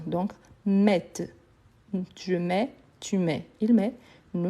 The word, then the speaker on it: mets: le TS il est obligatoire mais je le prononce pas donc je mets je mets pas met met c'est une ville